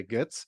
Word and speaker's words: Goetz: I would pronounce it in the German way, Goetz, but pleasure to have you on the show.